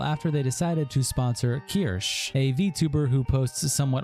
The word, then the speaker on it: Kirsch: Is it Kirshy? No, Kirshy? Is that? It's Kirsch.